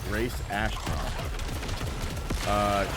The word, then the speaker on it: Grace Ashcroft: Grace Ashcroft.